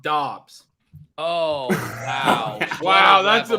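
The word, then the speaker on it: Doubs: bring back with Romeo Dubs. It cracks me up. I think he had 2 targets and 0 receptions. Hey. Oh, really? Pete. Yeah, Eric would like us to know that it's pronounced Dobbs.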